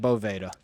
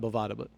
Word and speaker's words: Boveda: And this, I mean, you have, if you're Boveda or Boveda or Bovada, not Bovada, but I'm not actually sure what the correct pronunciation is. I actually think it's Boveda.